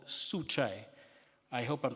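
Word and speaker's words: Juche: way of looking at things that is called suchai I hope I'm pronouncing that right and it's spelled j u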